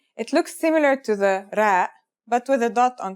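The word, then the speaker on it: ر: first letter is ra its closest english counterpart is the letter r but it's a different sound that must be learned ra it's not too hard to pronounce though right note how it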